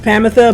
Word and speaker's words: Promethea: So the last couple times we've been trying to get Promethea, which I know is pronounced Pamitha, but I like Promethea better.